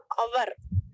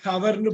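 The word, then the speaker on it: hour: ஓச் ஓ யூ ஆர் எப்படி படிப்பீங்க அவர் ஹவர் ஹவர்னு படிக்கக்கூடாது அவர்னு படிக்கணும் நீங்க வந்து பேசுறப்பயும் படிக்கிற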